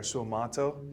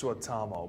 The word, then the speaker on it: Suotamo: And what you just said there, Suotamo, is not my name, but it means swamp worm. If you say it like that, it's Suotamo. But that's fun.